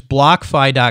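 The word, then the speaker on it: BlockFi: you know we're so it's block fie calm and it's spelled like block and then fi right and and tell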